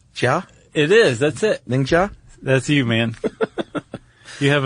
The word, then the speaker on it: Ningxia: Ningxia? That's you, man. You have a side career in Chinese pronunciation, I believe.